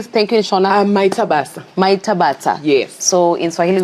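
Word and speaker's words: Maita basa: Maitabasa.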